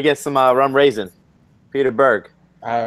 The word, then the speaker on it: Berg: It's Berg. He said it.